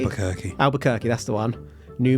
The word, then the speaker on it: Albuquerque: How do you say Albuquerque? Albuquerque.